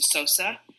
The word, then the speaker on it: Eseose: helps people is that I tell them to pronounce it Sammy soap so think of Sammy Sosa but with an A so so so so